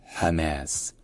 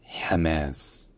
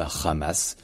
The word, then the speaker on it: Hamas: Et donc le ha arabe, il se prononce un peu comme un H, mais comme un H qui est prononcé peut-être un peu plus profond et un peu plus fort aussi.